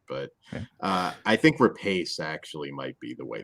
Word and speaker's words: Rapace: I really like Nomi Rapace. Really like her a lot, or Rapace, whatever. However you I forget how to say it every time, and I'm